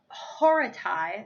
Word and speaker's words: Horatii: to beat this is the oath of the horatii is how that's pronounced there is a video